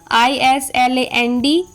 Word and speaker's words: island: The rule is often silent before L and T. जब भी L और T के पहले आता है S तब हमेशा साइलेंट होता है. जैसे ISLAND island, AISLE isle, ISLE isle, DEBRIS debris, PRETENTIOUS pretentia, viscount.